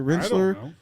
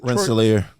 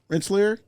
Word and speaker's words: Rensselaer: janitor at the illustrious uh rensselor am I pronouncing that right is it wrestler Polytechnic Institute Rensselaer Rensselaer uh yeah I I know I don't know